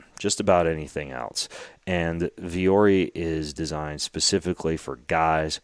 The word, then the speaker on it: Vuori: wardrobe is now from a company called Viori. It's spelled Vuori.